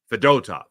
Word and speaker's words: Fedotov: Fedotov, not Fedotov. Fedotov. You got to get the dough in there, okay?